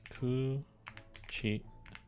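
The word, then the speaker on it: くち: Pronunciation is ku-chi.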